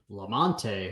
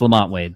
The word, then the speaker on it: Lamont Wade: playing like absolute ass lamante huh I like that I like how you mispronounce his name it's awesome lamante lamante so it's Lamont Wade I know yeah Lamont